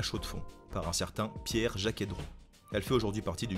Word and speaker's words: Jaquet Droz: six ans chaque héros on ne prononce pas le z final et on se retrouve donc avec un jaquet-droz tout simplement la marque